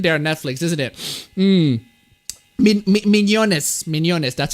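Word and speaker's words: Mignonnes: to put in there netflix isn't it um mignones that's how you pronounce it well there you go thank you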